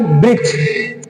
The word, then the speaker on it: वृक्ष: जैसे होता है, होना चाहिए वृक्ष, कुछ लोग वृक्ष भी कह देते हैं।